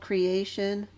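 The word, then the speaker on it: Cre8tion: It's called Creation. It's spelled C-R-E, then the number 8, and then T-I-O-N.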